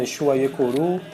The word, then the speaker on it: Exu Aiekuru: Então, conforme vai se falando, Exu Aiekuru, a má linguagem, a má pronúncia, acabou deixando como Ekuru, por exemplo. Né? Acabou sendo Ekuru, mas enfim.